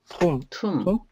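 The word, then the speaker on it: tomb: 덤브 할 때요, 이 M 다음에 B 나오면 영어에서 묵음이에요. 이 MB로 끝나는 게좀 있거든요. 이거 뭐지? 이거 어떻게 읽죠? 툼. 그다음에 이거 밤. 폭탄이란 뜻이잖아요. 그러니까 MB로 끝나면은 EP 묵음이다. 이것도 하나의 규칙이에요. 그 덤은 벙어리 이런 뜻이죠.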